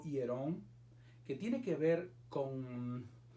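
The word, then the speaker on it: ἱερόν: Hay una palabra que se pronuncia en griego hierón, que tiene que ver con el complejo del templo, es decir, el templo en sentido general, ¿verdad?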